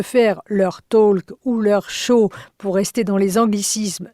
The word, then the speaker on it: show: Show, je prononce juste show, OK. mais c'est bien le mot anglais. J'ai pensé que c'est chaud. Ah non, non, non. On pourrait croire. Mais non, c'est le show comme en anglais.